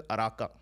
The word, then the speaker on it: Uraka: So he spells it with a U, but I believe it's pronounced as an A because wherever I see a U in the writings, the word actually translates to an A. So Uraka, but actually pronounced as Araka.